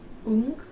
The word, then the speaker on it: ung: Ung. Yeah, that's it. Ung. Yeah, ung. So, and it's related to the word young. It's if you imagine young but without a y at the beginning, it's kind of similar.